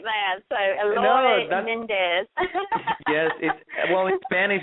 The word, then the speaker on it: Eloy: Not that many people can pronounce it. I get Elroy, Eli a lot, and you did really, really well.